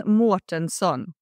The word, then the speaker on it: Mårtensson: So his name was Sven Mårtensson, with that beautiful little round ring on top of the A that only the Swedes have.